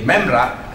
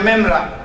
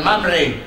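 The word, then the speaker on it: מימרא: begini dengan menjadi menjadi memra karena sama persis intinya sama mem memris alev ya dalam bahasa aramaik juga begitu tapi dibacanya memra bukan mamre lalu itu artinya ketika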